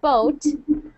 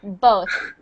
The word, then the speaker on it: both: Not boat, not boat, like B-O-A-T, but both.